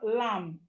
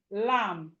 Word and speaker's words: lamb: Even though we have B here, the B is silent and it's not lamb. But when you are writing it, you know that there should be B when you are writing it. So we have lamb. Lamb.